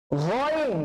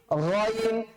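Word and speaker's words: غين: গয়িনটা কিন্তু বেসিক্যালি কণ্ঠনালী থেকে উচ্চারণ করতে হয়। তো কণ্ঠনালী থেকে উচ্চারণ করলে কোন জায়গা থেকে করতে হবে? কণ্ঠনালীর কয়টা ভাগ? 3টা ভাগ, প্রথম ভাগ, মধ্যভাগ, শেষ ভাগ। তাহলে গয়িনটা হচ্ছে খয়ের আপন ভাই, গয়িনটা হচ্ছে খয়ের আপন ভাই।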